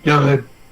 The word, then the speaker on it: Garen: On dit pas Garen, on dit Garen.